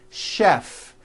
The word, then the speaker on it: chef: things even more difficult there are a couple of words that are spelled with ch and are also pronounced with the SH sound words like chef and the city of